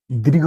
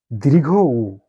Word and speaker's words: দীর্ঘ উ: এবার আমরা আসি দীর্ঘ উ সম্পর্কে। এই বর্ণটিকে আমরা অনেক সময় দুর্ঘ, দীর্ঘ এরকম বলে থাকি, কিন্তু বাংলা ব্যাকরণের নিয়ম অনুযায়ী এর সঠিক এবং শুদ্ধ উচ্চারণ দীর্ঘ উ।